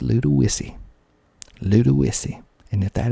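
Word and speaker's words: Ludowici: w i c i you would think that would be pronounced Ludi but it is not pronounced Ludi it is pronounced Ludy lud isy and if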